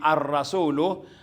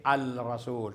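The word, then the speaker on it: الرسول: addars at hindi aldars at ang rasul magiging arrasulu ay binibigkas bilang arrasul at hindi alrasul kundi arrasul okay so pag inulit-ulit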